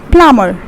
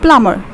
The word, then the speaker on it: plumber: is known as a plumber see b becomes silent over here and we call that this as plumber with two syllables plumber what is this of